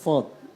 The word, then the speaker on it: ص: এজন্য বলতেছি সদ উচ্চারণটা, সদ এটাকে তোমাকে একটু ইতবাক, এটাকে তোমার একটু মোটা করতে হবে।